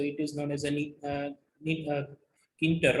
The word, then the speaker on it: Tkinter: Now another is neater, where a capital T is silent, so it is known as a Kinter, right?